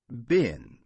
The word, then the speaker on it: bin: bin, bean, And here is the same difference, no? A short I, bin, Bin.